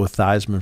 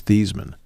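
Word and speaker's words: Theismann: uh said look he said we could go thyman for the Heisman if we go with that pronunciation so Joe thyman went along with it but the actual name pronunciation of his name is thian and if I'm broadcasting the games I just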